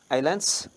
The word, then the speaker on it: Islands: Island is written as Island, but we do not pronounce S. Islands.